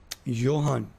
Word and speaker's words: Johan: Johan. But J है इसका spelling, तो ये लगता है ऋतिक वाला H साइलेंट है।